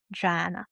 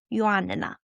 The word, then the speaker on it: Joanna: He arrived confident, skipping pleasantries, immediately calling me Joanna. I'm always slightly irritated when people use the English version of my name. The original is pronounced with Y and a double N, and it's Joanna.